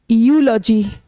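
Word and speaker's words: eulogy: ये है, इसमें ई साइलेंट, यूलॉजी, यूलॉजी।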